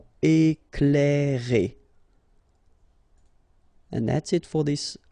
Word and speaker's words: éclairer: Okay, C and L together, you will pronounce this cl, cl. Éclairer.